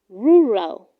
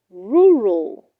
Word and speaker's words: rural: said to the child do not say rural it is pronounced rural rural the rural areas are densely populated 30.